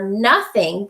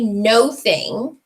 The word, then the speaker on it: nothing: word number 12 for nothing we don't say no thing right we say nothing I would have put